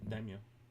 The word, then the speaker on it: Daimyo: Daimyo.